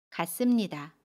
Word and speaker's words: 같습니다: 같습니다는 같습니다 라고 발음해요. 받침 티읕은 받침소리 디귿으로 발음하고요. 습은 씀으로 발음합니다. 같습니다.